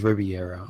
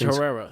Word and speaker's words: Herrera: I think it's Riviera. Riviera. I forget. It's Herrera. It's Herrera. It starts with an H.